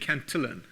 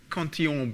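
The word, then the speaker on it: Cantillon: this years before and Richard Canan who people often pronounce conon because he was working in France he was actually Irish um uh had all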